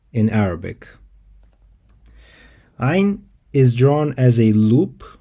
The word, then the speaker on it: ع: Ayn, ayn. Once again, it's ayn. It is a voice sound, so your vocal cords should vibrate when you pronounce it.